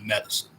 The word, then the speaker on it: Medicin: But they have a song called Medicine, but it's not spelled like you would spell the word medicine. It's not spelled Medicine. It's spelled Medicin, like meta sin.